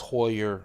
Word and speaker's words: Heuer: watch today is the heuer or Hoyer I know I've been called a Heuer for years people tell me it's Hoyer I'm gonna mispronounce it